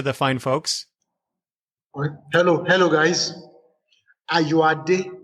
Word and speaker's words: Ayoade: Ayoade is my name. Ayoade, like H-A-R, pronounced H-A-R-Y-O-A-D-E, then, like.